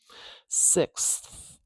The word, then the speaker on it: sixth: Sixth. So, boy, oh boy, this is a hard. Native English speakers don't like saying this combination. We've got a k, s, th combination.